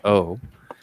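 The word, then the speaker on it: 오: She's her family name in Korean is O, so the Chinese character for Wu in Korean is O. It's pronounced O.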